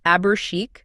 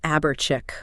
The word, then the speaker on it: Chique: They basically forced the correct sound through a spelling change. Yes, they just swapped C-H-I-C for C-H-I-Q-U-E to make sure that when people saw it, they'd instinctively say chic.